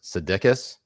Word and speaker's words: Sudeikis: Also, Jason Sudeikis. Sudeikis. Am I pronouncing that correctly? Sudeikis? That is correct. Wow. That is how you pronounce it in the Greek mother tongue.